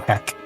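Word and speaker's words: Hek: k h e k so how do you pronounce it again as in hell oh heck um the last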